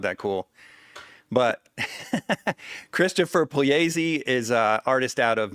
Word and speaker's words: Pugliese: The GLI in Italian is pronounced kind of like a Y, like a Y sound.